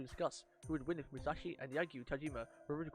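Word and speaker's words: 武蔵: It doesn't actually pronounce the I.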